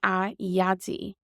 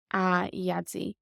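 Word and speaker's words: a Dhaidí: But when we call someone in Irish, we put a in front of their name. So it's a yadzi, a yadzi.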